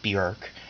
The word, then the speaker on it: Björk: that she pronounces it Bjork so if you want to insult her it rhymes with jerk not dork that's you know my